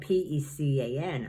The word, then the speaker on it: pecan: don't know um the word how do you pronounce this word spelled p-e-c-a-n i'd say pecan six the last piece of